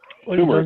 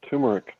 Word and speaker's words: turmeric: it's a spice man maybe I'm not pronouncing it right no tumor or t tumeric man turmeric turmeric oh tum turmeric powder